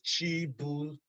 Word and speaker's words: Chibuzo: The pronunciation is Chibuzo.